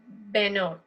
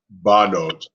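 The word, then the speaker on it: בנות: So Anu, Benot. Right? Banot. Watch the Benot. vowels. Okay, so it changes form. It changes the sound.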